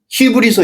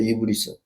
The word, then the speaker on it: 이브리서: 근데 한글 모든 성경에는 예를 들어서 신약 성경 중에 히브리서 있잖아요. 히브리서가 될 수가 없어요. 이브리서예요. 이브리서.